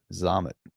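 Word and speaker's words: Xaman: X-A-M-A-N. It's like ramen noodles, but with an X, and pronounced with a Z sound to it, right? Zamen.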